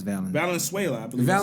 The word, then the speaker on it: Valenzuela: Valenzuela, I believe. that's how you say it, Valenzuela.